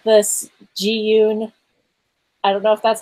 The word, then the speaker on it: Zhiyun: I think it's pronounced Zhiyun, it's pronounced Zhiyun.